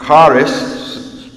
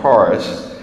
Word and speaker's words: charis: Also remember this, the Greeks used the word charis, if I think I pronounced that right, it's pronounced, I guess, like charis.